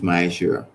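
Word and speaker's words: מעשר: It is tenth in the Hebrew and it's pronounced ma'aser.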